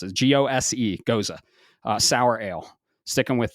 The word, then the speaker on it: Gose: Today, I'm actually drinking a guava lime gose, and that's how you pronounce it. Gose, gose, sour ale.